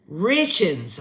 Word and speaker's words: Richens: Her name is Kouri, Kouri, Richens. I guess that's how you say it. RICH, like rich, and then INS.